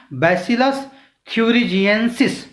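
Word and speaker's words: Bacillus thuringiensis: है कह सकते हैं, इसको प्रोनाउंशिएट करिए या उच्चारित करिए, इसका उच्चारण बैसिलस थ्यूरिजिएंसिस कहेंगे इसको।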